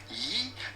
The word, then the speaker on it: gyros: name of this test with the typical Greek pronunciation Yi the G is not pronounced like a g in Greek that's what they